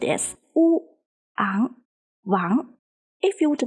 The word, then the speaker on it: Wang: pronounced as Ang, and the character Wang follows the second tone, so it is pronounced as Wu, Ang, Wang. If you would like to, you can follow me. Wu, Ang, Wang, Wu, Ang, Wang.